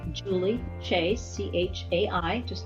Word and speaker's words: Chai: a website and it is my name Julie chase CH a I just like the teeb pronounce different Julie chicom thank you my dear